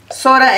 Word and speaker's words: jora: Este es aja y jora, ¿no? Surachamanta. Sora es el jora, pues le dicen jora, nosotros le decimos sora.